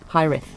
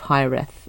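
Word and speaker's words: Hiraeth: And the title that she eventually ended up with is a Welsh word, which is, I think this is how you pronounce it. It's Hyreth.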